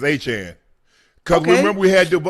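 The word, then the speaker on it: Achane: It's like Jackie Chan.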